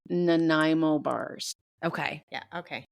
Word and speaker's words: Nanaimo: Why don't you tell everybody how we pronounce it? Because Yes. The dessert that you made, those are Yes. called Nanaimo bars. Okay. yeah, okay. Nanaimo bars, yes.